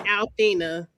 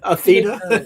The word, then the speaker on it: Athena: I love that you call her Althena. I'm sorry. What's like your name wrong and it's in my head? That's your name, but okay. What's her name? Athena, because it's like the Greek goddess.